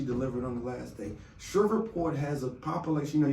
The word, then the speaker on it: Shreveport: Okay, Shreveport.